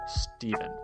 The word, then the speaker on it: Stevan: It's pronounced in the English Steven.